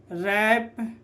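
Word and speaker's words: wrap: ठीक है, तो यहाँ पर R के पहले W आ रहा है तो क्या हो जाएगा, तो W साइलेंट, तो क्या हो जाएगा, रॉन्ग, राइट, रैप, रिस्ट, रेपर और रिंकल।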